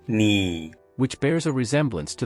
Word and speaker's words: 你: The rationale behind this choice stems from the fact that the pinyin for you is ni, which bears a resemblance to the sound of a needle.